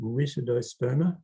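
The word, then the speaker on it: Rytidosperma: Oh, and by the way, I pronounce it Ritidosperma. Ritid is the correct Latin pronunciation, I'm told.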